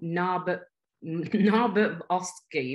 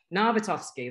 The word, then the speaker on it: Narbutovskih: pleasure to welcome, I'm going to say his name wrong, Narbutovskih. No, I've said that wrong again. Anyway, it's fine. You, correct me, what was it? It's Narbutovskih. Narbutovskih, that's it. I've got my vowels the wrong way around.